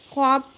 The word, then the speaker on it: خواب: پڑھا نہیں جا رہا، خواب میں واو پڑھا نہیں جا رہا، خواب، تو اسے حروف مکتوبی